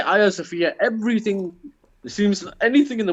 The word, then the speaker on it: Hagia Sophia: Hagia Sophia. That's how you pronounce it. Prince Haggis. Sophia. Haggis, like the Scottish word, and Sophia.